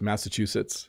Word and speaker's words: Massachusetts: Yes, Massachusetts is how I say it. There might be different pronunciations of Massachusetts, but that's how I would say it.